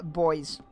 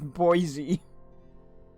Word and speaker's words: Boise: it was Bah or I thought it was uh boys and that Americans just pretended that the French inspiration didn't the French origins didn't exist. I didn't expect it to be pronounced Boisey was of this safy chick.